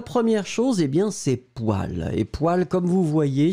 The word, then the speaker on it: poêle: attention donc la première chose est bien ses poils et poils comme vous voyez sur l'écrit bizarrement parce qu on le prononce waouh mais on l'écrit pour elle alors